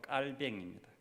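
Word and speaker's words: Calvin: 그래서 칼빈은 영어식 발음이고 프랑스어로 정확하게 사람 이름은 그 나라 언어로 불러줘야 되니까 칼빈 아니고 깔뱅입니다.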